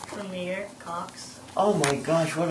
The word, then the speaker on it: Premier: what's your full name Premier Cox oh my gosh what a beautiful name Premiere how do you spell it P r e m i e r just like a Premiere that's awesome and how